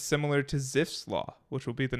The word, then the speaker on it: Zipf: Zipf. But Very I think fun. it's German, so I think it's Zipf.